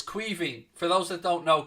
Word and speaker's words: Caoimhín: So, like, just think of it as, I suppose, Kweeveen or something like that.